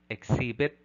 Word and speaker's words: exhibit: phoneme h is silent thus we say air honor honorarium exhibit shepherd item number 45 what